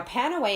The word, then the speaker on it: Panaway: Now, Panaway, if pronounced like pain away, would give away exactly what its use is.